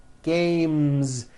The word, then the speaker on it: games: you add an S the S should also be voiced one game two games games another word head ends